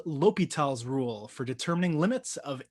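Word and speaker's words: L'Hôpital: read this out loud i just make the h silent so if i'm trying to read it i say l'hopital l'hopital is the way that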